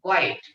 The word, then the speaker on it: quite: क्वाईट. क्यूट नाही.